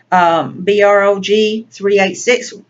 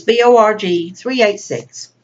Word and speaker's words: borg386: these questions for you B ROG 386 more 386 and I already pronounced that wrong but it's Bo rg3 86 I hope I answered